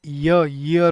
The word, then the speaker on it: year: Guys ईयर जो होता है हम इसको प्रोनाउंस करते हैं ईयर की तरह। लेकिन इसकी एक्चुअली प्रोनाउंसिएशन ईयर ईयर होती है।